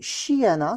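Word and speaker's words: श्येन: dans le terme igné, et Shiyana, c'est la prononciation sanskrite de Saena.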